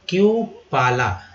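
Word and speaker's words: cupola: और क्यू पाला, यहाँ पर यू का उच्चारण जो हुआ है ई और यू की तरह हुआ है। अगर सी यू में ई यू लग गया तो क्यू और ओ का उच्चारण जो हुआ है आ के रूप में हुआ है। ठीक है, तो क्यू पा ला, गुंबज या डोम।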